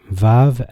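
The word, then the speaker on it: ו: Hebrew to note though we say VAV as if it was V but judging with its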